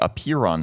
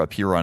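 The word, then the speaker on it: Apeiron: sticklers medical facility is called it the appear on center up here on is spelled a Pei ro N and you can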